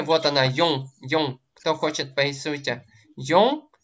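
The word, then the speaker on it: よん: Как произносится 4? Йон. Йо и носовой Н.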